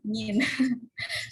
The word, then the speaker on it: mean: Oke, sebenarnya MEAN bacanya min ya, min.